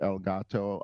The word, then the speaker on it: Elgato: love to talk to El Gato about, which is the right way of pronouncing that, by the way, since it means the cat in Spanish.